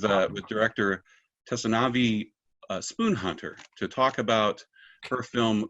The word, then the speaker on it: Spoonhunter: greg for the introduction my name is spoon hunter it's pronounced without the tea thank you very much